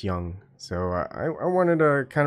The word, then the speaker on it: Jung: bit of car yung-chun it's called young young but people Papa Lee's pronounce it as Jung the wrong way but it's young so I wanted to